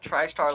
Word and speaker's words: Tristar: Just tristar like star.